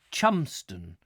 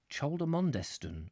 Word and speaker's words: Cholmondeston: I felt tolerably certain that it would be abbreviated to Chumston, until I was enlightened by an old canal lengthman at Nantwich, who not only pronounced it phonetically, but threw in yet another syllable, and stressed the last but one, in such a manner that the ponderous word assumed the forcefulness of a rousing medieval oath.